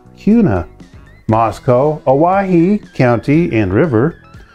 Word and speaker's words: Kuna: Idaho has some funny words like Kuna, pronounced Cuna, Moscow, Owyhee County and